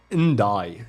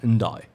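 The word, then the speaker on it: Ndiaye: I think I'm doing and die actually that's how you say it yeah and die that's OD slot is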